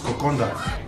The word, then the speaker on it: kokoda: fijian kokonda it's it's spell kokoda but it's pronounced kokonda and now let's get a bowl and we're